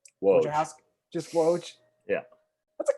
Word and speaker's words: Woj: Rappaport, from a Adrian, how do you even pronounce his last name? Woj.